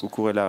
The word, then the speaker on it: Cucurella: C'est vrai, et en même temps, est-ce que c'est pas un peu surprenant de voir Cucurella, comme ça qu'on prononce, Cucurella, oui, dans le 3 défensif.